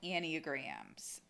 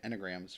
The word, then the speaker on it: Enneagram: into today's episode about annie grahams um wait that's how you say it yeah i know that's what i said to her and and and any and graham oh i've been saying enograms for a good one that's close yeah tomato